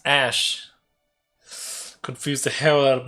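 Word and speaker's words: Aesc: This is pronounced Ash.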